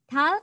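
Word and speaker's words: 달: tulisan ini dibaca karr hal itu artinya adalah bulan nah konsonan Riau itu kalau berada di akhir semua kata dibaca hal dibaca huruf L ya jadinya tulisan ini dibaca hal seperti itu oke masih ada waktu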